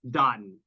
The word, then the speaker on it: Dotun: It's because you're reading it and it's spelled D-O. I'm very sorry, folks. I have a real pronunciation problem just in general. So, all right, Dotun. Did I get that? Yes. Yes. Okay, yes. like dot.